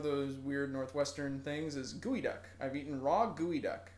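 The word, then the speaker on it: geoduck: is not a duck it is spelled GE ou D uck and I realize that that is not anywhere close to how you would think you would pronounce gooey duck but or spell gooey duck but that's how it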